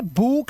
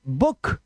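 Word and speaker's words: book: vowel sound उ उ जैसे अब इसे भूक नहीं पढ़ सकते आप और मैं क्या पढ़ेंगे इसे इसका शॉर्ट वाउल साउंड है लिख लो यहां पर short vowel sound short vowel sound जैसे बुक लुक foot foot कुक कुक नहीं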